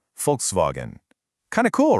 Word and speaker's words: Volkswagen: So, going back to our example, in folkswagen, it's the W that makes that V sound. Folks vogen.